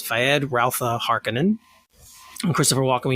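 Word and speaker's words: Feyd-Rautha: He'll be playing, I always say his name wrong, it's Fayed Rautha Harkonnen.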